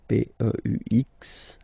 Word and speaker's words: peux: Then tu peux, same pronunciation and same spelling or writing, okay, P-E-U-X, okay, you don't pronounce the final X, tu peux, okay, je peux, tu peux.